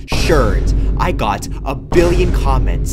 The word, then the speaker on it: sherds: Look at the name, it says sherds. Not shards, sherds.